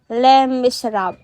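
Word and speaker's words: Les Misérables: Ang Les Miserables, pronounced as Les Miserables.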